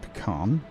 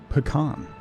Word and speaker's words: pecan: It's spelled pecan. Yeah. The correct way. Pecan. Yeah. Whatever. Okay. So let's connect to this. Connect to this. Connect to this. Then we connect that and that and that. Okay. So these are both making reinforced plates. So one of these reinforced plates is going to go up into storage. Pecan. Yeah, you gotta Captain Kirk it. That's how you know you're saying it right.